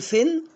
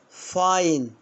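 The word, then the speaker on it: fine: هنا اقول فين ولا فاين؟ برافو يعني غرامة.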